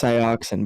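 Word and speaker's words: Sainz: It's pronounced Cyoxin, by the way, for future Cyoxin.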